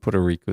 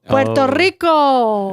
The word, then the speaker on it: Puerto Rico: how they say it they don't say it like Mexicans say it a Mexican would roll the RS Puerto Rico and a Puerto Ric will be ptoo like an L okay you're exaggerating now